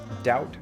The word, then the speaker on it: doubt: Think about the pairs debt versus debit, doubt versus dubitable, sign versus signature, autumn versus autumnal. The first word in each of these pairs has a seemingly useless silent letter, but when you say